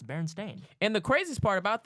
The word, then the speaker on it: Berenstain: if you were to read it phonetically, it's Berenstain. Berenstain. But no one has ever said Berenstein.